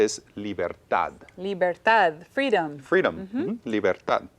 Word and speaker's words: libertad: And again, ends in a consonant. So Libertad. Bueno, hear the stress words on that the- have a consonant at the end usually have stress on the end, and I hear the stress on the end.